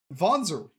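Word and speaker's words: Wanzer: a complex worldwide conspiracy voner it's pronounced with a V because I believe it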